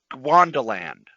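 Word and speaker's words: Gwandanaland: bring up our books it's g a and i'm mispronouncing it telling you that right now it's g-w-a-n-d a-n-a-l-a-n-d wanda land so joke right now go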